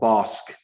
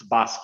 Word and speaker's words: Bosque: and Waco mentioned called bossk the street should be pronounced Bosque it's a Spanish word for Forest but we mispronounce it